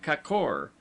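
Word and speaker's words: k'kor: letter of the word, as kor, gorges, pronounced as though written kakor, the a having the sound of a in sofa, lions, toodon.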